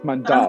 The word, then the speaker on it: Mandal: I know because like in English it's like Mandal, but now it's Mandal.